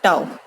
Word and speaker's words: tau: torque, represented by symbol this, and it is pronounced as tau.